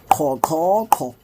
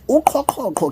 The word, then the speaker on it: uQhoqhoqho: Uqhoqhoqho. Now, uqhoqhoqho can also be used for swallowing generally, not